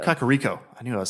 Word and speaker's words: Kakariko: Kirino Karim oh how do you say it Kakariko Cocorico I knew I was saying wrong Kakariko here we go I'm just kidding I talked